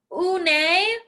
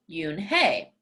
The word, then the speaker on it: Unhei: Nay, some kids chanted. No, Yoon Hey corrected. It's spelled Unhei. It's pronounced Yoon Hey.